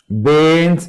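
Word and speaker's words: Brain: Bain's airway. R is silent.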